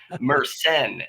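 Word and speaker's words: myrcene: penal Myers scine or that's an interesting name because it's said wrong and I say it wrong as well meren is the way it's supposed to be said so meren sounds very French we so yeah but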